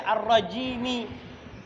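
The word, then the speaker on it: الرَّجِيمِ: Makanya dibaca ar-rajimi. Walaupun selama ini antum bacanya ar-rajim. A'udzu billahi minasyaitonir rajim. Pernah antum baca ar-rajimi? Pernah baca ar-rajimi. Nah, tapi Syawal harus tahu mimnya itu, mim ujung itu berharokat.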